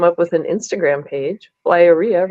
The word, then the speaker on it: Liara: with an Instagram page Liara rhymes with diarrhea I was there I